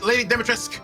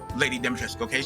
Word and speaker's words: Lady Dimitrescu: I THOUGHT IT WAS GOING TO BE LADY DIMITRESCU. YOU KNOW, YOU KNOW WHAT HER NAME IS, LADY DIMITRESCU. THAT IS HOW IT IS PRONOUNCED, SO EVERYBODY SAY IT. LADY DIMITRESCU.